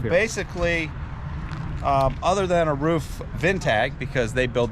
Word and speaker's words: RUF: now for the viewers I always thought when I was a kid it was a roof Porsche you're calling it rough what's the proper way to say it does does it really matter yeah roof is the same roof is the same